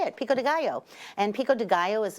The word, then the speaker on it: Pico de Gallo: And yes, that's how you say it, Pico de Gallo.